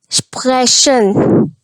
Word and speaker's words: Sprechen: Sprechen.